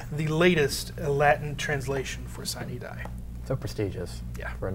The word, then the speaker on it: sine die: What I always pronounce it sine die. I think there are some different pronunciations of the Latin there. Sine die is, I think, the appropriate Latin pronunciation.